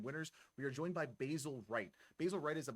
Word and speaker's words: Basil: How would I pronounce that? It's Basil.